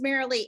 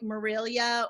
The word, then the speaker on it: Marilee: pronounce that right Kiko my name is Marilee it gets mispronounced a lot normally I get like Marilia or Marlena or something so I want to